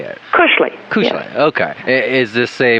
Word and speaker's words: Kushley: Kushle.